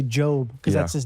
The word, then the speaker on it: Job: It's spelled like Job, but people say Job because that's his name.